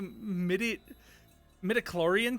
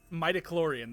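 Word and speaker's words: midi-chlorian: Sha, have you got a crazy Have you got a crazy high midi metloran count or something? Mitochlorian. That's what that's how you pronounce that.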